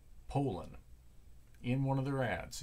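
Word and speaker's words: Poulan: it right because I've actually seen the proper pronunciations Poland not poulon not Poulin Poland in one of their ads in the chainsaw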